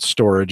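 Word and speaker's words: Storj: They pronounce it storage.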